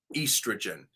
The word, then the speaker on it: estrogen: It's a long E sound. E, estrogen. And I'll tell you why.